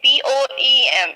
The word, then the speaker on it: poem: पोम, आपका जो word है पोइम, जो हम नॉर्मली यूज करते हैं, नॉर्मली बोलते हैं, the word is the correct pronunciation of this word is poem, it's not poem, ठीक है।